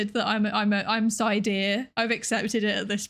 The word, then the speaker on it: Psydere: Psydere like Yandere is pronounced, or is it? Yeah, no, it's like Yandere or Sundere or whatever.